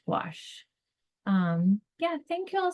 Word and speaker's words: gouache: to spell it go you ache when it's pronounced gach um yeah thank you all so much what